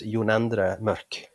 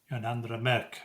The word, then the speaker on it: Jonandre Mørk: Was that John Endormoka? Yeah. His name is the Norwegian pronunciation is Jonandre Mørk. Jonandre Mørk.